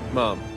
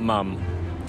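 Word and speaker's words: ma'am: Mom. Maman ? M-A-A-M. So mom. Not mum. Mom.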